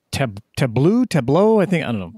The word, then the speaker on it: Tableau: It's Tableau.